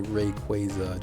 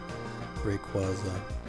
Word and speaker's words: Rayquaza: and i yeah i'm pretty sure it should be rayquaza just based on how it's spelled and that's i believe how they say it in the anime but that's pretty shaky